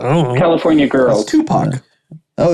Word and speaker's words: Tupac: That's Tupac.